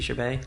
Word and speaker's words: Chabert: Lacey Chabert?